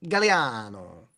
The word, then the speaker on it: Gagliano: My last name is G A G L I A N O Gagliano, but it's actually pronounced Galliano.